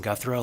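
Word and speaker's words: Guthreau: chair for the record my name is guthro last name is spelled g-u-t-h-r-e-a-u service is the executive director of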